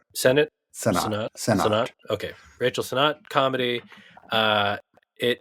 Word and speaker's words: Sennott: It's the new, I was supposed to look up how to pronounce her name, but Rachel Sennott. That's right. Sennott.